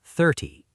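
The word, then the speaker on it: thirty: Second, we learned that teen numbers have the stress at the end and tie numbers have the stress at the start. 13 versus 30.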